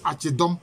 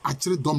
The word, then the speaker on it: Acheredom: Que maintenant on prononce Achedom, mais c'est Acheredom, l'armée de l'arrière.